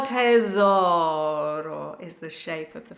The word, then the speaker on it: tesoro: O mio tesoro. So the rhythm is O mio tesoro. So the mi of mio is the important syllable. Tesoro with a hard Z sound, so oh my treasure.